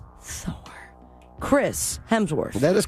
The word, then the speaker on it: Hemsworth: Universe and furiosa a Mad Max Saga Chris hensworth yeah Chris Hemsworth Chris Hemsworth oh is it Chris Hemsworth Chris